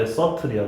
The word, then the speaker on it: subtle: subtle. B가 묵음이야. subtle하면 안 돼. subtle이야. 다시 subtle.